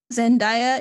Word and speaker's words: Zendaya: you're probably not the guy yeah number 22 zendaya is only in seven minutes of dune did